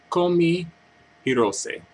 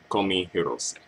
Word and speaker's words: Kohmi Hirose: by the name of Comey hirose I believe that's how you pronounce her name call me herose and I found out